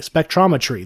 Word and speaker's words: spectrometry: it last time ometry spectrometry there's an r at the end spectrometry Labs one of